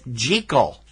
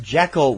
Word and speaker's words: Jekyll: I do think it's interesting that they note here that the correct pronunciation is Jekyll. Oh. That Jekyll was the Hollywood movie pronunciation of it.